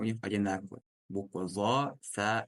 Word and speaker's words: ظ: Буква «зо» так же, как и «заль», «са», у нас произносится именно кончик языка с кончиком верхних слов. «Зо». Просто отличие буквы «зо» от «заля» и «са. Эта буква «зо» у нас твердая буква, через звук «о».